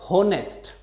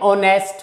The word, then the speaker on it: honest: but in most of the words for example honest it is never spoken as honest if you speak it pronounce it like honnest then you will never